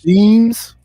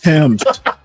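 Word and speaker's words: Thames: How's it pronounced? Nish themes. Yeah, we just used to say things. It's Tims.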